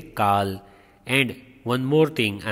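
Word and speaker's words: Karl: Here R is silent, we say Carl.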